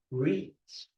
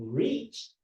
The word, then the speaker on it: reach: That's a long U sound. There's difference between rich and reach. Mas stretch yung isa. Yung reach, abot.